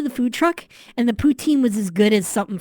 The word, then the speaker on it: poutine: word ptin h like why would you name your name your dish potin it's not spelled that way okay so so poutin not spelled like that well you got the second half spelled right it's poo as in p o u t i n e and um poutine is